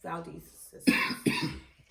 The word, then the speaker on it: Valdise: A lot of people don't know how to pronounce it, but yes, Valdise is what it is.